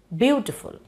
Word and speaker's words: beautiful: So there we do not accent full, we say beautiful. Okay, see, it has three syllables. We are accenting the first syllable, and the second and third go unaccented.